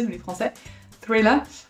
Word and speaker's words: thriller: Thriller, avec le petit TH avec la langue entre les dents, pas mal.